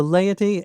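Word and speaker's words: laity: So leoty is l ai t y but both the a and the i get their moment in the sun. They are both pronounced.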